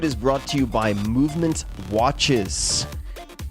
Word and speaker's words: MVMT: This episode is brought to you by Movement Watches. And that is spelled MVMT. Movement Watches.